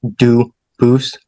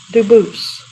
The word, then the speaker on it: Dubus: Duboose as the original French. Yep. Very well. Duboose.